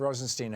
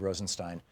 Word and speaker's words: Rosenstein: Yeah, Rod Rosenstein held or Stein, excuse me. They pronounce it Steen over at Fox News to try to, you know, emphasize his being Jewish.